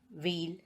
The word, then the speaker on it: wheel: H is not pronounced when it comes after W. For example, Y, whip, wheel, etc.